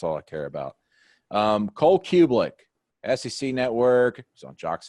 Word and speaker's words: Cubelic: So Cubelic is Croatian name. Cubelic would be the correct pronunciation.